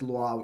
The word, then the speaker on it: Luau: of Lua, which is why it's important that Luau is a language.